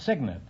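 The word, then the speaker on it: cygnet: No, it's signet. It's spelled C-Y-G-N-E-T, but it's pronounced signet.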